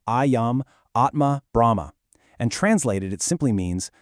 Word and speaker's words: Ayam Atma Brahma: That's pronounced Ayam Atma Brahma.